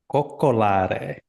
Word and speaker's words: coccolare: The verb for cuddle in Italian, coccolare. Coccolare. Coccolare, which I think is a beautiful word, but it sounds like cock, like coccolare.